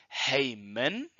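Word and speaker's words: ἡμῖν: attention to and so we're going to pronounce it with an H in front and we translate that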